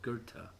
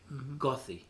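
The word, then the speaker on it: Goethe: me years to pronounce a word called Gerta is is spelled g-o-t-h-e gothi to me that's gothi but it's a German language well it's called Gerta you uh explain to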